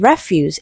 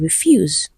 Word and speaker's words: refuse: If it is a verb, it is stressed on the second syllable.